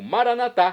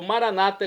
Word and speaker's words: Maranatá: E agora eu clamo Maranatá, como dizemos nós católicos, ou Maranata, como dizem nossos irmãos separados, os evangélicos ou protestantes. Não importa a pronúncia, o significado é o mesmo.